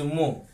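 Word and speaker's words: mho: ওহম, ও এইচ এম, এর নাম হচ্ছে MH, মো, MH, উল্টো হয়ে যায়, সবটাই উল্টো।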